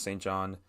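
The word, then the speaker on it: St. JHN: Again, that's St. John. Saint spelled like Saint, and then John spelled J-H-N.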